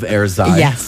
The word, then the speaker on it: Airzai: Yes, and you pronounce it perfectly, right? Because there's an AI in the end. So, air and then Z is for zen, cuz we play with